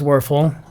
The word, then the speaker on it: Werfel: Now, I'm sure he says Werfel, and that's fine. But, you know, if I see a German word, I'm going to give it a German pronunciation.